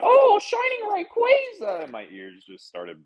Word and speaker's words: Rayquaza: It's Rayquaza. It is. It's bad, which makes it's not phonetically like.